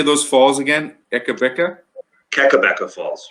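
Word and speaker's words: Kakabeka Falls: Keckabecca Falls. Keckabecca Falls.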